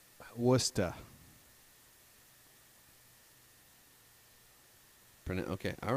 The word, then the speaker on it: Worcester: I called it early pronounced watch Esther WR wor CH yes Worcester Burnett okay all right